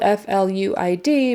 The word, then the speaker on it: fluid: remember that and fluid fluid is spelled f l UI D but you say it as if it were f l e w i d fluid like the bird flu and then ID fluid fluid um with the accent on the first syllable flu fluid so and